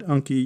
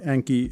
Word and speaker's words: Anki: I call it Anki. You may call it Anki. It's spelled A-N-K-I.